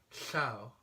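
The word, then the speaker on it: llew: is its double owl which is pronounced as in Chau which means lion and it's a very odd sound and took me quite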